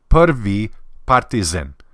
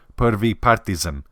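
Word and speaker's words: Prvi Partizan: the proper way is perv say the E perv partisan now if you want to be super Serbian about it you can pronounce it as perv partisan it means first partisan all right the first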